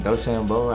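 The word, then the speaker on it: DeChambeau: Bryson Doambo. How do you pronounce his last name? Dashambo.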